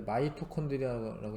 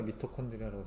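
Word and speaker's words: mitochondria: 뭐 원래 마이토콘드리아라고 읽으셔야 되는데 아직은 표기가 미토콘드리아라고 되어 있고, 그 다음에 가를 중심으로 ATP를 합성하는 작용을 무엇이라고 하냐?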